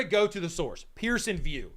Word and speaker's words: Pearson VUE: go to the source Pearson view it's spelled v all right Pearson VUE not v e w all right and so